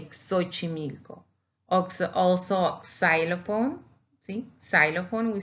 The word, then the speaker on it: Xochimilco: X in the beginning, we pronounce it as with two consonants, like K and S, but it's X. So we say Xochimilco.